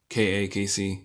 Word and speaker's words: KaKc: to pronounce my comics it is pronounced a casey c i know it doesn't look like casey but i probably also like casey and yeah so when